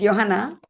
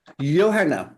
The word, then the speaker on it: Johanna: Of course, it's Johanna. Johanna.